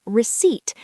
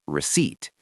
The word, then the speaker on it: receipt: Oh, receipt. The P is silent, right? Receipt. Exactly. No P sound, just receipt.